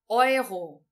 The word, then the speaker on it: Euro: Então, o EU no idioma alemão nós vamos pronunciar com som de oi.